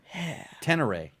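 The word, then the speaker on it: Ténéré: Tenere is the pronounce, but Tenere is okay. Yeah. It's like Tannerite.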